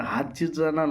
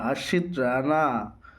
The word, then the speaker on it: হর্ষিত রানা: বলছি দাদা, ওটা হারজিত রানা নয়, ওটা হর্ষিত রানা।